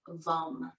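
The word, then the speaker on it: vam: energy center is vum v-a-m but the a is pronounced like a short you vom so for the next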